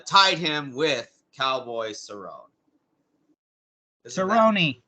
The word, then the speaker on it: Cerrone: submission here uh tied him with cowboy cerrone cerrone it's pronounced the cerrone okay so he tied with